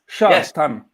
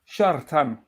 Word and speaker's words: Shartan: It's Shartan. Yeah. Shartan. Oh. You have to roll on the R.